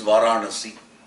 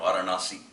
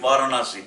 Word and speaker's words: Varanasi: pronunciation of the words I for instance know it is Varanasi it is not Varanasi you will get by with Varanasi but it is not if you have